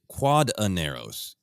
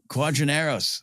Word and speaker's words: Quadinaros: Consistently, wherever the name of this podracer is written down, it is QUADINAROS.